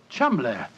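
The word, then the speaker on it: Cholmondeley: know that the name Cham is in no way pronounced the way it is spelled but Jo I never thought of that Cham that name spelled c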